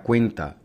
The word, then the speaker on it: cuenta: Una palabra donde el acento prosódico recae sobre la penúltima sílaba se clasifica como una palabra llana. Un ejemplo de una palabra llana sería cuenta, y en la forma